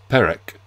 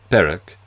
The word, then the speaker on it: Perec: Yet the fact that the Gallicization is slightly off, the rules of pronunciation would imply that the first E should bear an acute accent, to give Perec, leaves a trace, but